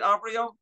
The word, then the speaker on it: Avrio: Shawn, have I pronounced that right, Avrio? You did, yes.